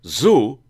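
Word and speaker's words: tsu: But essentially what it is, you're telling the sushi chef, or the zu, you know, T-S-U, the zu, T-S-U, zu. You always pronounce the T-S together like shoe, so zu.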